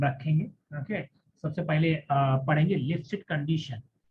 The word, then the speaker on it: Lipschitz: नाम है, हम रखेंगे, ओके, सबसे पहले पढ़ेंगे लिप्सिट कंडीशन।